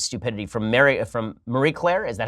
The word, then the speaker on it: Marie Claire: So There's an article that's just astonishingly great in its stupidity from Marie Claire. Is that how it's pronounced?